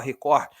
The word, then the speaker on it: Record: né, se fala assim, se escreve Record, mas se fala Record, ele é um jornal